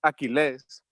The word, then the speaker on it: Aquiles: life story my name is aquiles well technically pronounced aquiles um i'm 69 years old um i've lived